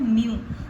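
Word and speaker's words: mu: इसकी प्रोनाउंसिएशन है म्यू।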